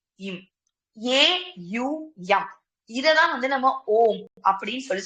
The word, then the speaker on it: ஓம்: நீங்க ஓம் ஓம் ஓம்னு சொல்றது ஓஎம் ஓம் கிடையாது, ஏயுஎம். இப்படிதான் வந்து ஓம் அப்படின்றத நீங்க உச்சரிக்கணும்.